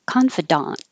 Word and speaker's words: confidant: This one, very similar, but it ends with an A and it sounds like confidant. The last sound is ah, daunt, the same as the first, confidant. And that's tiny difference than confident.